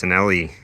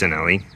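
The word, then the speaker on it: Cinelli: Instead of a kind of a cheapy handlebar stem combo, we've got a nice Sinelli I think it's pronounced Schwinn-only combo here, and I think it's also called a pantograph.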